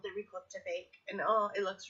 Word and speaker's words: ricotta: I'm half Italian, we say ricotta. Ricotta. It's got a C, but for some reason we pronounce it with like a G, ricotta.